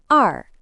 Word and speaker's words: 二: They are pronounced E R sun.